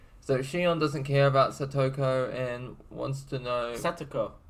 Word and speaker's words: Satoko: and he is satoko like your pronunciation was like such a butchering of that Sudoku you know and but yeah how do I say it satoko and he is I